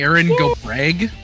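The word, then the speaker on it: Erin go bragh: It's pronounced Also- Eryn Go Brag. Brag. Yeah, Ew. you really have to put the emphasis on the GH.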